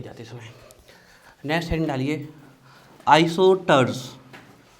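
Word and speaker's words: isosters: Next heading डालिए, आइसोटर्स। S silent रहता है इसमें।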